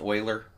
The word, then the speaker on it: Euler: there project Euler right here it looks like Euler it is pronounced Euler trust me on that one and what it